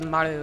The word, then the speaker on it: Maru: to say Maru, which Maru. is like a very poor attempt at trying to actually pronounce the R correctly in the East Asian languages, more like an RL.